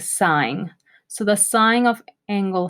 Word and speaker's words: sine: the sine function the sine function it's the shortcut is spelled sin don't call it sin it's a sign so the sine of